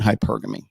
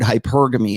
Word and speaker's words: hypergamy: Remember that I have to explain this to you because this is really the start of today's topic, which is open hypergamy.